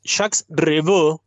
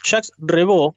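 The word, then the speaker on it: Jacques Revaux: el año 1967 cuando jax reevo si me escuchara a mi hermana me mataría por la pronunciación en francés Ja rebo un compositor francés creó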